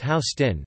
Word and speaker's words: Houston: Although the grid does start with 1st Street, just north of Houston Street, the southernmost street divided in west and east portions, pronounced Houston, the grid does not fully take hold until